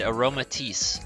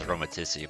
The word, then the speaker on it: Aromatisse: looking at spritzy and aromatisse i believe that's how it's pronounced my mind says aromaticity but i'm pretty sure it's aromatics the the fragrance perfume